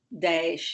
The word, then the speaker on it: Daesh: to ISIS as, I'm not sure how to pronounce it, Daesh? Daesh, yes.